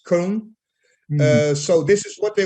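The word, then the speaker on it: Köln: here colonia because in in holland we say colon and in german it's cone so this is what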